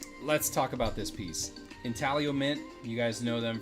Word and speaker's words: Intaglio: your company they'll say italio the g is silent strangely enough uh but yeah this